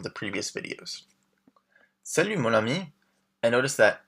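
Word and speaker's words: amie: But the pronunciation is the same.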